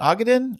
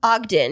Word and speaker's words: Ogden: how do you say that is it aen Ogden Ogden Utah Ogden Utah now another Utah on this list it says it's north of stake City so um I know nothing about Ogden I know nothing about Utah other than I've